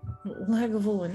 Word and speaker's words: Lagavulin: how do you how do you say that lagavulin lagavulin okay thank you and two class glasses in